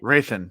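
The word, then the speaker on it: Hrathen: Raithion. The H is silent. Yeah, that was Yeah, and for me it's not like an It's like Django, the D is silent. It's Raithion, the H is silent.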